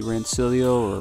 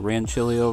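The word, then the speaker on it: Rancilio: classic pro coupled with the rancillio or ranchillo rocky however you prefer to pronounce it very entry-level machines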